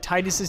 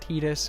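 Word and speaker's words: Tidus: I think is right I already know that titus's name is wrong I know it's pronounced tetus we've been through this before and I'm about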